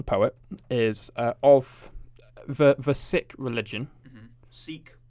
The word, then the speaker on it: Sikh: poet now another poet is uh of the sick religion seek it's pronounced sick is it fun fact for you i thought i thought it was seek it's not um i think people you think